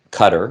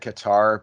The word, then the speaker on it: Qatar: Qatar, which I believe is the correct pronunciation. I always have said Qatar because everybody wants me to say Qatar, so I say Qatar.